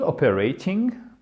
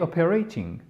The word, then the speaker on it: operating: très, très, très courant, le T ne va pas se prononcer comme un T, mais il va se prononcer quasiment comme un D. Il va presque se transformer en D.